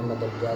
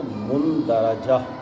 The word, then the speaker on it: مندرجہ: جس کی دلیل ہمیں مدرجہ ذیل احادیث سے ملتی ہے۔ یہ صحیح تلفظ اس کا ہے مندرجہ، مندرجہ۔ کچھی پینسل رکھا کریں